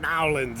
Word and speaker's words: New Orleans: I've made it back to Nowlands, or New Orleans for those of you who don't know, but they seem to pronounce it Nowlands out here.